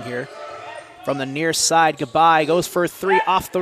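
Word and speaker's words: G'Bye: I'm pretty sure I pronounced it right. It's G apostrophe B Y E. Mm-hmm. Yeah. Bye. Goodbye. Yeah.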